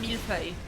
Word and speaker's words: millefeuille: Oh, that's pronounced millefeuille. That's an adorable name for a cat, millefeuille. Millie fuel.